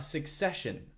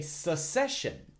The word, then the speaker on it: succession: given by a sucession now be careful don't say sucession there needs to be a strong CC sound in the sentence Su